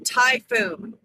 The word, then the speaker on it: typhoon: And then typhoon. So it's T-Y. T-Y P-H-O-O-N. Yeah. Okay. So how do you spell it?